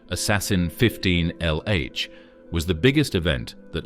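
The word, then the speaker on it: ASASSN-15lh: The supernova impostor, which is pronounced assassin 15 LH, was the biggest event that looked like a supernova that has ever been seen.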